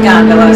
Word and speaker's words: gondola: And I did confirm it is pronounced gondola, so I should have gone with my first instinct.